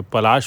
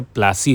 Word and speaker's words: पलाशी: पा प पलाशी तो ब्रिटिशर्स इसको स्पेल नहीं कर पाते थे प्रोनाउंस नहीं कर पाते थे पलाशी को तो वह पलाशी से प्लासी हो गया इसलिए इट is known as battle of प्लासी यह देखिए यह तब